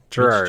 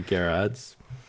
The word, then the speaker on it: Gerads: miracle the recent epic from Tom King and Mitch Gerardus Gerard's I've always heard it pronounced Gerard's right but alright be Jarrod's yeah this is a